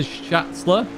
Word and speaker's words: Schatzler: So Schatzler, that's how you say it.